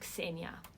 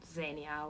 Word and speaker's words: Xenia: iv by the way my name is pronounced xenia xenia not zenia or zeno nothing like that close parenthesis then at